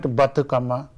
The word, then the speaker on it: Bathukamma: how do you say that we call it bhattacama bhattacama all right okay let's start off tell